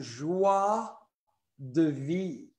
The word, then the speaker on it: Joie de Vie: So we want to welcome everybody to this new phenomenal, extraordinaire, and very exciting Joie de Vie. Joie de Vie. How do we pronounce it, Marnie?